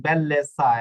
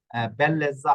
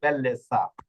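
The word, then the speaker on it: bellezza: হইছে এই যে দেখুন বেল্লেসা এখানে কিন্তু বেল্লেজা হয় নাই এটা হইছে বেল্লেসা আচ্ছা এরপর পরের নিয়ম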